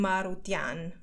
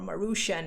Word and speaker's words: Maroutian: So I'm Maroutian, or Maroutian, as the Americans would like to pronounce it.